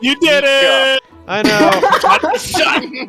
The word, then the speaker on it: Micah: pronounced You did Mika.